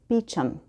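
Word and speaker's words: Beauchamp: This is called The Christmas Stairs by Chris Beecham. And Beecham is spelled weird, just so you know.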